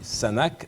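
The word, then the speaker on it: Sunhak: un institut l'Institut international je vais bien prononcer le nom parce que c'est un peu compliqué sanak sanak c'est écrit comme ceci s u n H a K ça se lit sanak sanac d'histoire et nous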